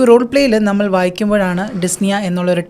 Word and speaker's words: dyspnea: The patient is experiencing dyspnea, so it's important to ensure they receive adequate oxygenation. Practice saying dyspnea to ensure you pronounce it correctly during the role play. So ഈ role പ്ലേയിൽ നമ്മൾ വായിക്കുമ്പോഴാണ് ഡിസ്നിയ എന്നുള്ളൊരു term മനസ്സിലായത്.